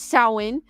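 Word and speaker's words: Samhain: ancient gelic Festival of sa sa produced produced pronounced as sa was a prominent gelic Festival celebrated by the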